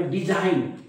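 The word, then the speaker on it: design: झन असं काहीतरी वाचेल पण बघा लक्षात घ्या मी काय म्हटलं या एन च्या अगोदर येणारा जी नेहमी काय असतो सायलेंट असतो म्हणून या शब्दाचा उच्चार आहे डिझाईन डी झा डी झान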